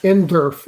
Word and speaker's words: NDERF: NDERF is how it's pronounced.